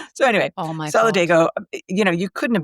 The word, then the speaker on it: Solidago: be pronounced which is solidgo. May a culpa Jenny it will never ever happen again. Jenny surmised that it was because of Spanish pronunciation.